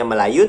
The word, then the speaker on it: Melayu: logat Melayu Melayu kemudi bacanya Melayu tapi tulisannya melaju karena pada Sabtu ejaannya